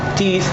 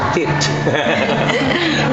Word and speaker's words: teeth: Minsan lang na mispronounce, like yung teeth, they would say tit.